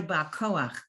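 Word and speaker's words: בכח: Kol Adonai Bakoach. Kol Adonai Adonai Bakoach. Bakoach. Okay, you see the het on the end and the Yeah. and you pronounce it ach, ko, ach, Ah, ach.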